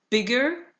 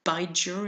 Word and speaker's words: bigger: that in short adjectives, in order to keep the sound of the vowel, you double the final consonant, so big becomes bigger. Otherwise, you would pronounce it bijer, and it does not exist.